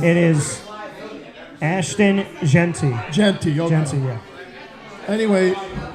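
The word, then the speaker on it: Jeanty: It is Ashton Genty.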